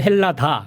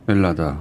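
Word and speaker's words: Ελλάδα: 말하자면 헬라스, 헬라도스, 헬라디, 헬라다 이렇게 되던 것이 맨 앞에 H 발음 안 하게 되고 엘라다. 네. 목적격을 주격처럼 사용하게 돼서 목적격을 네. 아이 모르셔도 됩니다. 아니 이런 거 알아야 됩니다. 목적격 헬라다가 목적격인데. 네네. H 발음 안 해서 H 발음 안 하고 주격처럼 사용돼서 엘라다가 되었다.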